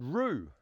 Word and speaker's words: Whroo: On this occasion, we're off to a town called Rue and that's spelled WHR O.